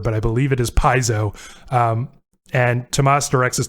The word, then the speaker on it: Piezo: word paizo we couldn't figure out how to pronounce uh that track title from amber but i believe it is paizo um and tomas directs us to wikipedia quote